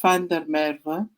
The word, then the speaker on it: Van der Merwe: It's pronounced Van der Merwe, but will be changing soon.